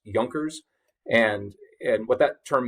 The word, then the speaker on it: Junkers: uh the term up there that looks like junkers is pronounced junkers and and what that term means or represents